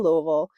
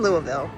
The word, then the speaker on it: Louisville: This year it's in Louisville and me, Kevin, Patrick, and Patty all went.